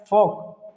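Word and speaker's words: folk: फॉक, ठीक है, फॉक पढ़ेंगे, इसको फॉल्क नहीं पढ़ेंगे, फॉल्क लोग पढ़ते हैं जो कि गलत है।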